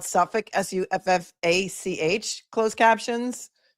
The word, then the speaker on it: Suffolk: Like, is there a county anywhere in the US that is spelled Suffolk, Suffach?